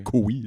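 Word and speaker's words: Koe: Comme on parlait de David Cowie il y a 2 secondes, le K-O-E, son nom, je savais pas que ça se prononçait Cowie.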